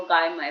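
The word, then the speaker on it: Gaimai: पास में बैठी है गई माई गाय माई बोलते थे लोग उसका उच्चारण गाय मा ऐसा करते हैं रज का का हम गई माई बोलते लेकिन वो गाय माई बोलते थे उनकी माता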